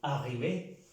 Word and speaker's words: arriver: A diferencia de este, que no se pronuncia arriver, sino arriver.